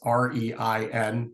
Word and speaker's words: Rein: It's REIN, like the beginning of reindeer.